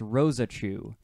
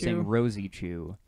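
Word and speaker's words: Rosechu: help us know that it's pronounced Rosa Chu Rosie Rosie chew okay there's like a and the e is pronounced in there Edward one eight five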